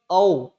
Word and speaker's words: औ: और ये जिसे हम औ कहते हैं वह औ न होकर इसका निर्माण जो होता है वह होता है अ धन ओ से। किससे होता है, ओ से। तो ये होता, इसका सही उच्चारण क्या होगा, औ।